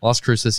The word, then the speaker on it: Las Cruces: Las Cruces.